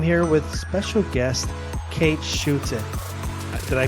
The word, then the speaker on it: Schutte: I'm your host Ryan Anthony Ernnandez and today I'm here with special guest Kate Shoot. Did I pronounce that correctly? You did indeed. It's a South African name.